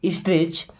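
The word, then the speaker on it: stretch: मना करना है नहीं स्ट्रेच इस वर्ड में देखिए टी साइलेंट है है ना सी एच के पहले कभी भी अगर टी आता है तो टी वहां पे साइलेंट हो जाएगा यानी उसको नहीं पढ़ेंगे ओके अगर कोई ऐसा वर्ड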